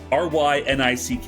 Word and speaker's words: Reinick: Rynick is how you pronounce her last name, or spell her last name.